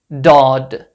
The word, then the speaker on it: ض: exist in English but it's a sound between z and d not Zod not do between these two letters to pronounce the letter correctly you can press the tip of your tongue against the upper gum area in your mouth now